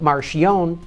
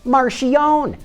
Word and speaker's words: Marchionne: on electric cars Fiat Chrysler head hono Sergio Marion that's right he pronounces it Marion not Marion as I've been saying it all